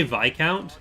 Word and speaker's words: Viscount: Like, when I say Viscount, that's the proper pronunciation. But I will always get Americans in the comments saying, it's Viscount? It's like, no, it's Viscount for you. It's Viscount for pretty much everyone else.